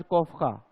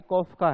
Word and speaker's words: कोफका: ये पहली बात तो कोफा नहीं है ना, ये कोफका है, ठीक है। हम जैसे प्रोनाउंसिएशन करते हैं ना, कर्ज कोफा, है ना, वर्दीमर वर्दीमर कोहलर कोफा, है ना, कोफा नहीं है, कोफका है।